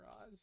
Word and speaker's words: Roz: I like how he says his name rhymes with paws. And he's talking about Roz.